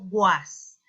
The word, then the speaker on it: was: Recuerda pronunciar la S como una Z.